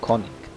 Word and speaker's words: König: Oh no, König, or König, as the Germans would say it, judging by those 2 dots.